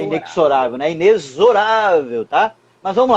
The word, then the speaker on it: inexorável: Outra pronúncia equivocada, quando alguém diz assim, inexorável. Não, a pronúncia é inexorável. Mas é aquela live, todo mundo... Juro pra você, é inexorável. O X tem som de Z.